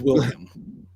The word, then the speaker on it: Wilhelm: But no, it is Wilhelm.